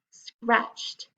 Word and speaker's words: scratched: Scratched, scratch.